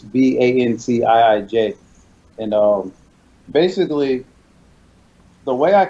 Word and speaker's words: Vantiij: So it's pronounced Vantage like you normally would, Vantage. But we wanted to do it unique. So it's Vantiij.